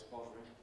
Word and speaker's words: bothering: federal, which I usually say is federal, and informs of words like bothering, which I think I usually say is bothering, not worth bothering about.